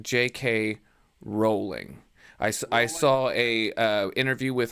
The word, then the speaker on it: Rowling: author's name is pronounced JK Rowling I saw a interview with her and she had said it's rolling like bowling it's spelled like bowling